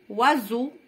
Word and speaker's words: oiseaux: Des oiseaux, des oiseaux, des oiseaux. Le S entre I et E, on la prononce Z.